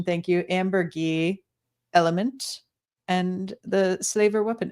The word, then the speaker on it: Ambergris: What did y'all think of, and I've been corrected on the pronunciation, thank you, Amber Gee, Element, and the Slaver Weapon episodes that we watched for this evening.